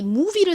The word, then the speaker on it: movie: 그리고 O는 여기서 O가 아니라 무슨 소리로 쓰였죠? 우 소리로 쓰였습니다. O 하면 보통 O 소리가 먼저 떠올라서 이 movie를 쓰실 때 O가 아니라 뭐 U를 쓰시는 경우가 많아요. 하지만 이 movie에는 O가 쓰였다라는 거 잘 봐주시고요. 자, 그리고 V는 진동이 들어간 V 소리가 나죠. 비읍 소리. 다음, IE는 이렇게 비교적 긴 단어의 끝부분에 쓰였을 때 무슨 소리 난다고요? 이 소리가 납니다.